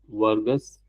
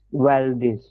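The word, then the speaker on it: Valdez: Vargas. Actually, it's Waldes. Oh, well. Uh how do you spell that?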